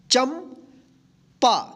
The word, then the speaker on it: चंपा: यहाँ पे देखिए, च के ऊपर बिंदी है, तो यहाँ पे जो है ना आधा न के रूप में नहीं होगा, यहाँ पे आधा म का उच्चारण होगा। चंपा, क्या होगा?